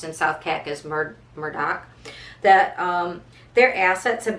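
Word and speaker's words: Murdaugh: although it's spelled like murder d-a-u-g-h but it's pronounced in south cac is murder murdoch that um their assets have been controlled by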